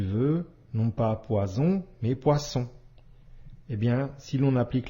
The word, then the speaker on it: poisson: le S poisson ici le double s entre deux voyelle i ou o se prononce bien comme le son ce autre exemple cousin ici